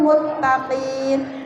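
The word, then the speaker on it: المتقين: Jangan muttaqina bacanya, muttaqin.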